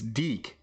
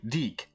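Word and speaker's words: DIC: It's Dee Entertainment. If you don't know how to pronounce Dee, what are you doing? It's Deick. D I C. Deick.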